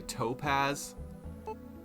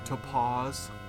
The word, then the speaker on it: topaz: that to pause money how do people pronounce topaz in america i feel like i've heard people say topaz but like the way that sounds is so unappealing topaz you know what i mean versus sort of the british english to pause topaz there are a lot